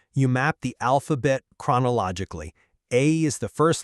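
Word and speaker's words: 愛: If you look at the Japanese orthographic tradition, the kanji for love, which is pronounced "ai", requires exactly 13 brush strokes to write.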